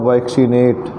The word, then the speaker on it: vaccinate: जैसे वैक्सीनेट, टीका लगाना, वैक्सीनेट VACCINATE, यहाँ डबल सी है तो नियम के अनुसार पहले सी को क पढ़ा जाएगा और दूसरे सी जिसके बाद आई आया है उसको स पढ़ा जाएगा, तो हुआ वैक्सीनेट।